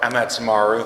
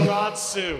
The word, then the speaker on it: Amaterasu: So we haven't talked that much about Amatsumaru. Thank you for the pronunciation. Amaterasu.